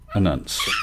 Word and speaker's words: Anance: Anance. Okay. Maybe I pronounced it completely wrong, but...